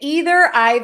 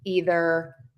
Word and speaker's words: either: Is it either, neither, or neither? Oh my gosh, those words have many, many variations. And you can pronounce those neither, neither, either, either.